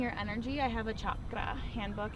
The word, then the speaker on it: chakra: energy i have a chakra handbook it's actually pronounced chakra okay not chakra like the americanized way yeah i know do